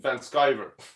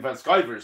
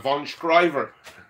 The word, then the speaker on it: Van Sciver: second name your surname I'm just after getting the hang of Ethan Van Sciver surname I was calling him von Schreiber and all sorts of